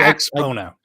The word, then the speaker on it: Axpona: Did you happen to run into Aaron from Aaron's Audio Corner while you were up at how do you pronounce it? Axpona? Axpona. Yeah, actually, Axpona.